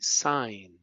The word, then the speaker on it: sign: How about the silent G? Sign. Forange. No. Foreign. Gnome. Right. Champagne. Right. So these have silent G's.